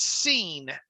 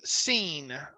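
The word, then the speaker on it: Cine: Is Lewis Seen, and it actually I researched this. It's Seen. Is it? Okay. Pronounced Seen.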